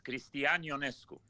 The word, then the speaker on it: Cristian Ionescu: the kids are going to be saying your name wrong all across the country. I'm fine. It's Cristian Ionescu.